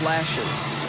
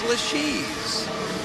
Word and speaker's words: LeShe's: A lot of people mispronounce that. They say the Order of Lashes or LeShe's, but it's LeShe's.